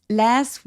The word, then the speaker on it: last: 근데 last보다는 미국 소리가 우리 미국 발음이 훨씬 더 한국 사람들한테는 조금 더 가깝게 느껴지잖아요. 그래서 last보다는 last라고 apple 할 때 에 소리가 많이 난다.